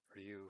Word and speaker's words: Ryū: on the katakana, though technically there is another u that is added. That's why Ryu's name has that little dash above the u, because it's like two u's.